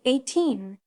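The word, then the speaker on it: A'TIN: Their fandom at the name pronounced 18 is a nod to their 2018 beginnings and also means yours in Tagalog symbolizing their connection.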